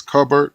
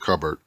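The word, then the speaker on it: Kubert: the artist is Andy is two ways you could pronounce it is cover or Cubert pronounce it covered but yeah very nice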